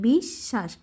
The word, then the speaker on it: বিশ্বাস: ব আছে তো একটু ধাক্কা দিয়ে বলতে হবে বিশ্বাস সেও তার মত কয়লা ভাঙতে এই যে উমর উচ্চারণটা কিভাবে হবে উমর উচ্চারণটা হবে অনুস্বরের মত